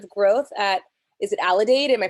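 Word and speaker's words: Aledade: the vice president of growth at is it allidate am i pronouncing it right there mike that's correct perfect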